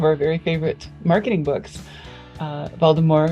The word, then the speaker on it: Waldemar: And Waldemar pronounced with a V, not with a W. Got it. It's Waldemar.